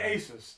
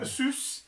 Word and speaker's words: Asus: here this is a Asus Asus please don't say it like that oh oh god I've heard this is the thing I've seen too many videos now people sent me videos to watch I say ases it's Asus yeah but I've watched